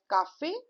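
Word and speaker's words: café: Okay. So c a is ca and f e with the x au is f cafe. If you will not put this accent and simply put e it will be a meaningless noun which is caf.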